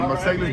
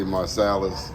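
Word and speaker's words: Marsalis: Mercedes brothers, you know, uh get uh the Marcelis brothers. Um you should also look Glenn Davis, the rebirth brass band. Other people say Marcales.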